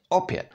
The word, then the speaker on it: opět: Now, similarly, this syllable would be pronounced pě, like, for example, in the word opět, which means again.